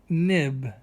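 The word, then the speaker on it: Knibb: Joseph Nib, that K is silent, Nib, was the man who made it in 1690.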